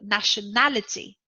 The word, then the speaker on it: nationality: the first syllable national nationality in this case it is a noun and the stressed syllable is the third syllable nationality just before the end politics politics is a